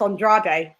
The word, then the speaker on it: Andrade: You say Andrade. Yeah, because it's actually pronounced Andrade.